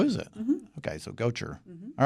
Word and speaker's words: Gotcher: We have with us Valerie Gotcher. Gotcher. Gotcher. Yes. Sure. You know, my wife and I have been debating your proper pronunciation of your name. She kept saying Gaucher. I'm like, no.